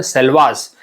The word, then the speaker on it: Selvas: वहाँ पे एक अच्छे खासे रेन फॉरेस्ट मिलते हैं, जिसको हम बोलते हैं सेल्वास। क्या बोलते हैं उसको हम? सेल्वास।